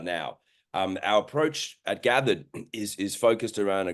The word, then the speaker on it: Gathid: gathered so it's pronounced gathered uh and that's a combination of two words gathered identities the way that an